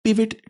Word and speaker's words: pivot: पिवेट table इसे बोला जाता है। पिवॉट टेबल नहीं है। पिवेट पिवट पिवेट होता है।